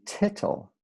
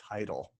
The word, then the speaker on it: tittle: Yeah, because I would have called that a title. I think it's tittle because it's spelled like little, but with whatever.